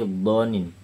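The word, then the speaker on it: بضنين: Kalau dalam bacaan kita itu kan bacanya bukan zonin tapi donin.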